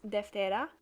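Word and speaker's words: Δευτέρα: now monday in the top left there is pronounced deftera tuesday is triti wednesday is tatarti thursday is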